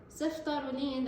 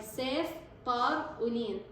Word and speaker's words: ceftaroline: last year, we were ceftaroline. Cef, guy name, tar-uline, okay? So it's just a way for me to remember how to pronounce it.